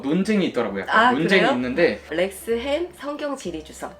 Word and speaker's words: Lexham: 발음해 주실래요? 이거 논쟁이 있더라고요. 논쟁이 그래요? 있는데. 렉스햄 성경 지리 주석.